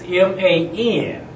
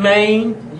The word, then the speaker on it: Man: man it's pronounced M because we do a long a in Louisiana so a lot of times I would hear y'all seen Maine y'all know where Maine